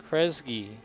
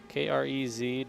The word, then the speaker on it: Kresge: His name is pronounced Kresge, I believe. Krez-Ghee. Kresge.